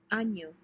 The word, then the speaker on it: año: año, Año is a year.